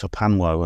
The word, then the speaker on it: HPANWO: You can find me simply by putting in my name or Hospital Porters Against the New World Order, or just write HPANWO. It's pronounced Hapanwo, and that's basically my main website.